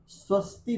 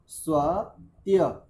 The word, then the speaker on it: स्वत्य: छोटी सी त्रुटी है रेक स्वस्ती नहीं है यहां पर स्वस्ति भी नहीं है माता जी स्वत्य स्वत्य भी स्वत्य भी ये सभी ध्यान रखेंगे प्राय यही उच्चारण आता है रेक स्वस्ति भी ऐसा उच्चारण करते हैं स्वस्ति तो वहां पर है ही नहीं वहां पर तो एक शब्द है स्व और एक है त्य स्व त्य भी स्वत्य भी चलिए